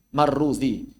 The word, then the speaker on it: Marrudzi: Kalau pakai dalal marrudzi, kalau pakai zai marwazi.